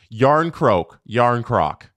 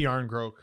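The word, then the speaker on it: Järnkrok: the topic of names, Yarncroak. I say Yarncroak. I say Croak too. Okay. Because I've heard Yarncroak a lot recently.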